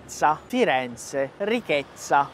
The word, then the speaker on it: ricchezza: Firenze, ricchezza. Na palavra ricchezza, eu tenho uma dupla consoante, eu tenho doppia Z.